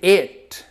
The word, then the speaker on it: it: vamos lá repeat it perceba que eu pronunciei it com som não é um som autêntico da letra i não é um i é uma mistura de I com E então fica e porque se fosse eat seria igual o verbo